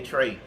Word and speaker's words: Treś: Yeah, and it's just Trey. It's spelled TRES, but my legal name is Trey.